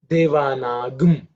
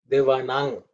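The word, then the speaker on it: देवानां: Devana gum. There should not be any matra, no other vowel introduced.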